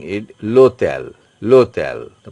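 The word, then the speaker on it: l'hôtel: starting from o is H is totally mute or silent so you are PR pronouncing it lotel LEL the pronunciation is coming from o okay lotel LEL means Hotel H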